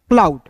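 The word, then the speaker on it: cloud: ओ यू डू, ओ यू डी, तो ओ यू का उच्चारण आउ के रूप में, डी का होता है दोस्तों ड। क्लाउड, सी एल ओ डब्ल्यू क्लाउड, क्या हो गया?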